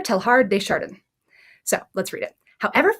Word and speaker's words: Teilhard: is important awesome okay i have looked this guy's name up before and it is pronounced like it sounds or like it looks pierre telhar so let's read it